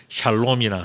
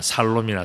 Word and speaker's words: 샬롬: 여러분들 뭐 샬롬이나 살롬이나 두 개 중에 아무거나 괜찮아.